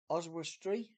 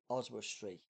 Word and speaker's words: Oswestry: go is my word I I just can't pronounce this word oswustree oswestry that's the best you're gonna get and it